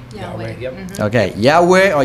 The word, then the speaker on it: Yahweh: If you pronounce in Hebrew, it's called Yahweh. Yahweh.